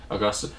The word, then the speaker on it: Augusta: Is that how you pronounce it? Augusta. Yeah. Augusta.